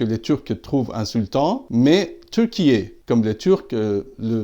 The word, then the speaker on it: Türkiye: d'Inde, et que les Turcs trouvent insultant, mais Türkiye, comme les Turcs le prononcent eux-mêmes.